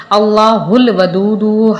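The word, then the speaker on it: الله الودود: ایسے ہی پڑھنا ہے۔ اللہ الودود، ہا کو لام سے ملانا ہے، اور اسی طرح سے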